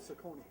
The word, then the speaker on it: Ciccone: It is Ciccone. It is. I went to school with his uncle. Okay. See, I have a tendency not to pronounce the E's at the end. So. It's Ciccone, because I know the uncle.